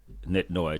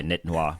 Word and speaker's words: Nit Noi: for us it's like Nit Noi two syllables six letters keep it simple hopefully people get in their head some people say nit Noah which is fine and it's uh you